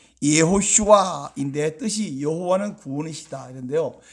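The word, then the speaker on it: יְהוֹשֻׁעַ: 왜 똑같냐 물으면, 여호수아라고 우리가 한국어 발로 발음하지만 히브리어 원래 발음은 예호슈아인데 뜻이 여호와는 구원이시다 이런데요.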